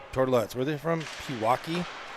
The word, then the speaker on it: Pewaukee: Pewaukee? Like Milwaukee?